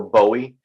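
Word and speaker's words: Boë: It's an umlaut, and so it makes it sort of pronounced more like Zoe. So it's more Bowie. But I've been going by Bo for so long, I kind of forgot they were there myself.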